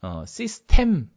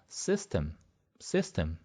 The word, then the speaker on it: system: 시스템이 아니고요. 발음이 앞에 C 여기 있으니까 system 이렇게 되는 거죠.